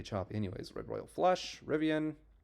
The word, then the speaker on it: Rivian: Red Royal Flush, Rivian. I finally said it right. I didn't say Riven.